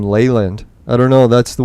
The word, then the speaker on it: Leland: take them out now i'm going to start pronouncing my name leyland i don't know that's